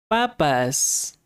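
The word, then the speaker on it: papás: Papas. There's the word for parents which is papas with an accent on the second a.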